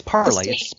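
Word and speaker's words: Parler: half of their consumers won't be able to pronounce. So that's a bonus. It's Parlay.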